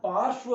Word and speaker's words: पार्श्व: इसको हम पार्श्व बोलेंगे। पा से पहले रे और से के बाद में वह है, वह के भी ऊपर लगा है, क्योंकि इसकी शर्त यह